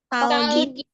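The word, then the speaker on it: 딸기: Ini tuh sangdiget atau double D-nya kayak gini. Jadi bacanya tuh tebal. Terus cenderung terdengarnya di T.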